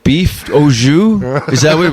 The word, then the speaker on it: au jus: It looked like beef au jus.